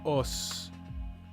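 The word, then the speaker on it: 押忍: Yeah, like os. Os? Is it os or oos? O-S-U in the Japanese pronunciation.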